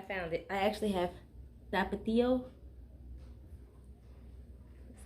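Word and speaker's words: Tapatío: I actually have tapatio.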